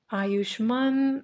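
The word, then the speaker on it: Ayushmann: But I'm pretty sure his name was supposed to have an emphasis on the first syllable.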